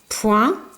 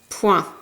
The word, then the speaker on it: point: Le foin, un coin, loin, moins, avec ici une lettre muette, le S, qu'on n'entend pas, un point, de nouveau une lettre muette, cette fois-ci c'est le T.